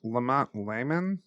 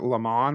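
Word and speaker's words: Laman: I've always pronounced it lemon when reading the books. So, I guess layman is that's why I got hung up cuz I was like, what? Yeah. I mean, I guess it could be. It's one It's once again, it could be anything. It could be pronounced so many ways.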